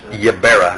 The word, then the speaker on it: Ybarra: The last name is Ybarra, and it's spelled Y-B-A-R-R-A. It's pronounced Ybarra.